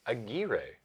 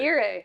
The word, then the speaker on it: Aguirre: I've previously heard, because there's been real people with that name, and I've heard their name pronounced Aguirre, which is why I very confidently said that the name was pronounced Aguirre, because I heard it somewhere else, but apparently They were Aguirre misinformed. with a rolled R, which I cannot do.